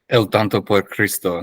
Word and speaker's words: El Tonto por Cristo: El Tonto por Cristo, yeah.